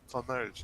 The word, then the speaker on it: Flamberge: I never remember how to pronounce it right. Flamberge? Flamberge? Merge. You know? Flamberge.